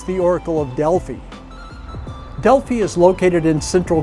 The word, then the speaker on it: Delphi: I always thought it was the Oracle of Delphi. Turns out that pronunciation is wrong. It's the Oracle of Delphi.